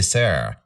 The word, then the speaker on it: ser: you know web3 thing you don't say sir you say sarah yeah ser anyway um